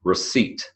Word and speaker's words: receipt: Receipt, silent P.